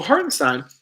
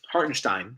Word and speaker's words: Hartenstein: I think excuse me so heartenstein hartenstein excuse me gotta pronounce that in there he's a top 70